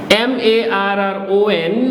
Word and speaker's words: marron: M-A-R-R-O-N, which is marron, because M-A is ma, R-R is ra, O-N is on, so marron. S-U-R, R will be pronounced,